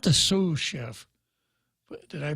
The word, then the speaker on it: sous chef: And you'll be happy to know that the chief cook out there, not the sous chef, did I pronounce that right?